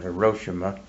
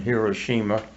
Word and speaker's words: Hiroshima: You hear people say Tokyo and Hiroshima. Those are not right. Right. It's Hiroshima and Tokyo.